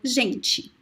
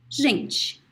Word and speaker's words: gente: Let's use the word gente. Gente. Gente. So the E sound is very weak at the end.